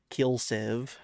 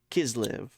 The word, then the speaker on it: Kislev: Kislev. I kept calling it Kilsev. Okay, Kislev.